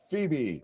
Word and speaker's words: Phoebe: think it's phoebe right it's not it's like i was like it's almost like phobia hello phobia hillary my apologies if i mispronounce that i really do apologize phoebe all right awesome oh